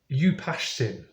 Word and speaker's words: Utnapishtim: It's Utnapishtim. I mean, could you pronounce it? I'm going to try my best. Upashtim.